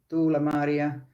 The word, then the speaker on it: Tuula Maaria: So Tuula Maaria, if you pronounce it the Finnish way.